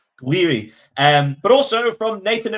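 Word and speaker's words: Gouiri: Two goals from uh, how do you pronounce his name? Is it Gueri Jiri Guiri? Guiri.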